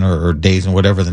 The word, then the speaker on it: DAZN: I think Jake Paul was going to be on Dazen or Dazen, whatever the name of it is.